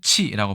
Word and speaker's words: 棄: 붙어 있는 것으로 자 중국에서는 치라고 발음을 하고요 이게 아랫부분이 너무 이제